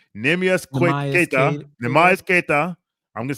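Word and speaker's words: Neemias Queta: So the pronunciation is Nemias Keita.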